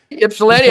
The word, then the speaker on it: Ypsilanti: I think he's from Yislip, or I forget how it's pronounced. Ypsilanti outside Ann Arbor.